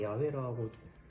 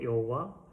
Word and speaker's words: 야훼: 좀 낌새를 야훼랑 여우 이게 왜 달라졌냐면 히브리어가 고대 히브리어가 사실 자음밖에 없어요 모음이 없어요 그래서 우리가 거기다 모음을 붙여서 발음을 하게 되는 거예요 그러면서 여호와 야훼 이렇게 차이가 좀 발생을 하는 거거든요 제가 여기 써놨는데 이게